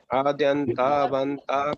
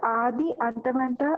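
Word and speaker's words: आद्यन्तवन्तः: From here, Adi Antavanta, we should not spell it separately. It's Adyantavanta, continuous. Continue. Adyanta, Adi and Anta.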